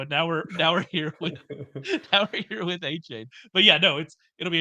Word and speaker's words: Achane: Is it A chain? Is it Achane now? We were trying to we're all over the map here. So I would always pronounce it. So Achane is what sounds right to me, given right. where He I came grew out up. this week and said that wasn't right.